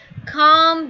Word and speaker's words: calm: जो है इट इज calm But the L here is silent, so it's calm down.